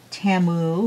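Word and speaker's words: Temu: but to them it's to me it sounded like Shamu like the whale when they uh set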